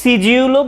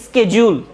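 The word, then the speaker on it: schedule: আবার বলতেছি, তুমি সিজিউলও বলতে পারো, যদি ব্রিটিশ উচ্চারণ তোমার পছন্দ হয় তাহলে সেক্ষেত্রে তুমি সিজিউল বলবে, ঠিক আছে? আর যদি আমেরিকান উচ্চারণ পছন্দ হয় তাহলে স্কেজুল। আচ্ছা, তাহলে খেয়াল রাখবে, এটা ওই যে আমরা ছোটবেলা থেকে ভুল জেনে আসছি, তো হয়তো বা অদ্ভুত মনে হবে, এইটাকেই ভুল মনে হবে, কিন্তু এটার আসল উচ্চারণ সিজিউল।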